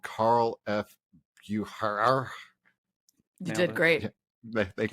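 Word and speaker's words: Carl F. Bucherer: I was using Google to find it, and I guess they're called Carl F. Bucher.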